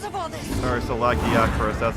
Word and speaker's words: Lagiacrus: Alright, so Lagiacrus, that's how they say it. I don't know, I still want to say Lagiacrus.